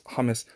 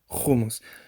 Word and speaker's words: hummus: Most modern Hebrew speakers will pronounce hummus hummus. It's pronounced hummus in Arabic because it's het it's the equivalent. But unfortunately, again, because most people in modern speakers of Hebrew do not have the sound, they just say hummus, or even a very